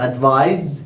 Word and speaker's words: advise: remember guys you have advise is the verb with the s that we pronounce it z and advice with c